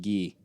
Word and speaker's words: Guy: I I love Ian, too, but I I think um um also his name is it's spelled guy, but apparently it's pronounced Gee, but um Oh, Gee.